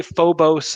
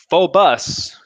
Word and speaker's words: Phobos: a cool trick a lot of people say Phobos and damos because that's kind of how the words look I've heard from people who speak better Greek than I do phobus is the preferred pronunciation and damos so phobus